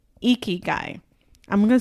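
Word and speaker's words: ikigai: shared it with you yes and it's called eeky guy I'm going to spell it out it's i k i g a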